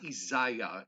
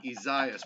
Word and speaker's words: Isaias: not uh become the ice storm which is pronounced izious no no not isaiah isaias i'm just going to call it tropical storm night no you're not you're going to call it izaias we're going to shame the media who will